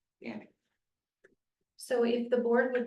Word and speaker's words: Gannic: Gannick, G-A-N-N-I-C. Gannick. Gannick.